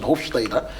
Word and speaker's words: Hofstede: culture, which is Hofstede's, that's actually the pronunciation, Hofstede.